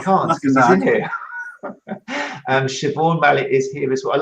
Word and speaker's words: Siobhan: And for me, Siobhan was 𝘬𝐵𝑗𝑡𝑗, and then someone told me now it's actually Siobhan. So it always makes me laugh when I see a Siobhan come in the room.